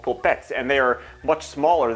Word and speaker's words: polpette: out there who does Polpette is my my pronunciation for the word meatball the meatballs in Italy are called po pets and they are much